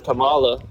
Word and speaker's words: Kamala: And then secondly, when she was running for her name is pronounced Kamala. Her name is pronounced Kamala.